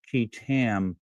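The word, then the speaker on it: qui: and Jane Does filed a federal key lawsuit. It's spelled quui tam under the false claims act on behalf of the American people.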